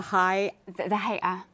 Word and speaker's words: Hay'a: I think I saw a movie some years ago that was about the religious police, how do you pronounce it? The Hay'a.